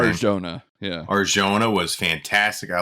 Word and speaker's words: Arjona: The chemistry between him and Adria I'm not even going to try to pronounce her last name. Arjona.